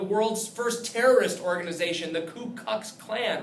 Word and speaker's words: Ku Klux Klan: first terrorist organization, the Ku Klux Klan, right? Don't mispronounce that or misspell it. You'll sound like an idiot. Ku, K-U, Klux Klan, not the Klu Klux Klan.